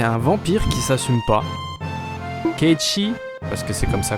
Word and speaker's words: Cait Sith: moyen Vincent c'est un vampire qui s'assume pas ke parce que c'est comme ça qu'on prononce en vrai c'est un chat qui parle